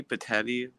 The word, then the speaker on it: Petitti: new guy they got Tony patelli that's how you say it yeah it was kind